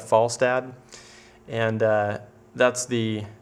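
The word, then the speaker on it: Falstadd: a d d and I'm going to choose to pronounce that FAL dad and uh that's the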